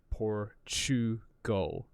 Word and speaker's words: Portugal: like the word Portugal now what is happening when we say port chew go it's not spelled poor chew like chewing something go